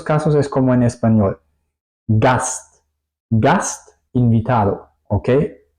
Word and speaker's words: Gast: Gast, gast, invitado, ¿ok? Yo separo la S y la T. Eso sería la combinación de S y T.